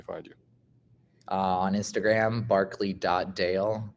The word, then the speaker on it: Barclay: you uh on Instagram Barkley DOD I know that we pronounce it Barkley but it's actually spelled barlay b a r